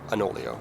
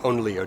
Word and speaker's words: Onoleo: lot of music on, the B Enolia, or Onoleo, depending on how you say it.